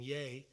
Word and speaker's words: ya: It's not ya, it's actually saying yay.